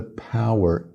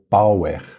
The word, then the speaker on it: power: acento o p e o er é sem muita vogal é mais o som do R Power Power em português